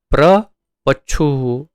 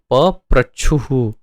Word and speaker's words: पप्रच्छुः: पप्रच्छुः, ये शब्द आप यदि ध्यान नहीं देंगे तो उच्चारण में गलती हो सकती है, प्रपच्छुः ऐसा हो सकता है, लेकिन प्रपच्छु नहीं, पप्रच्छुः है।